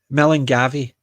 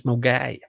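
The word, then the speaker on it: Milngavie: Millengavi is what I've heard it being called because that's how it's spelt, Millengavi, but it's Mulgai.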